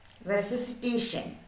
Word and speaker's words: resuscitation: Resuscitation. What is the word? Read this word. Resuscitation. Look here. Resuscitation. Re. Look. First re. Then s. Re. S. C. T. Tion. So we can pronounce it as resuscitation.